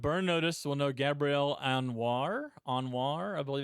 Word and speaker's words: Anwar: Fans of Burn Notice will know Gabrielle Anwar, I believe it's pronounced.